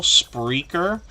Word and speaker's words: Spreaker: have put content on spreaker so it sounds like the word speaker with an r in the middle spreaker and I haven't looked into